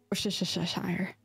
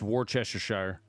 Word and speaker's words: Worcestershire: That's not how it's pronounced, by the way. Worcestershire. It's Worcestershire. Worcestershire.